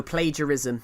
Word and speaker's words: plagiarism: No, plagiarism. It's not plague. No, it's spelled like that.